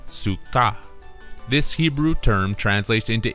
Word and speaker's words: sukkah: This Hebrew word can also be spelled out as such, which can be written out as sukkah, and is phonetically pronounced as sukkah.